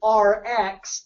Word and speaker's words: ARIIX: do the play on RX like a drug in the way you pronounce it r x so we still have